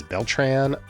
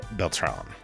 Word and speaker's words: Beltrán: But he was always referred to as Beltran or Beltran in his playing days, when it should have been Beltrán.